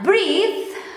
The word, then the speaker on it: breathe: Nah, breathe bernapas. Kalau breath nggak pakai E, breath itu napas. Tapi ini pakai E, jadi bacanya breathe. Kalau nggak pakai E, bacanya breath, napas.